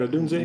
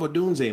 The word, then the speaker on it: Odunze: Did I pronounce the name right? Odunze? You got it. I love Odunze, man.